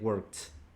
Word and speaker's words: worked: Ese se pronuncia como una T, worked.